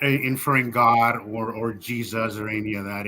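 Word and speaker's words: Jesús: not when they say they're not saying Jesus they're saying Jesus all right um it's spelled the same way my name is hesus it's a very common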